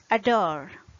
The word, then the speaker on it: adore: Another example is adore, adore. The stressed syllable in this case is the second syllable. So we use schwa sound for the first syllable.